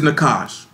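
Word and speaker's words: nachash: The word is nakash. It is spelled N-A-C-H-A-S-H, Nakash, N-A-C-H-A-S-H.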